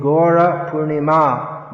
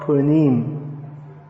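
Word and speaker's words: Gaura Purnima: up is it not purnim because the ah is dropped at the end of some words doesn't mean you can drop it at the end of every word if it's a long r at the end and don't it's not droppable so gorkur gora purnima not punim her name is uh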